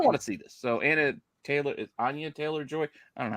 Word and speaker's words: Anya Taylor-Joy: So Anya Taylor-Joy.